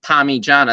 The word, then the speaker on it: Parmigiana: It's spelled with an I, and it's pronounced Parmigiana. That's an I.